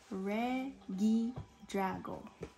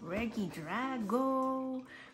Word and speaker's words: Regidrago: okay how do you say his name Reggie Drago all right guys so we're gonna open up Reggie Drago crowns in it what look at this so